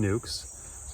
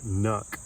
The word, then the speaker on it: nuc: or 5-frame nuke, and nuke is spelled N-U-C. It's short for the word nucleus. That's why you pronounce it nuke and not nuck.